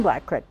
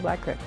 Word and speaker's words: Black Creek: You know, I know the dictionary says creek, but it was always Black Creek. You know, it's been like that for 70 years to me. For folks who grew up in the village, the pronunciation for most really boils down to what they were taught. I believe they're not locals when they say creek. It's always been Black Creek.